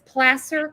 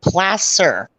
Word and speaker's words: Placer: she says to now i said placer it's placer correct correct placer all right forgive me placer county sheriff's office well i pronounce county sheriff's office right so three out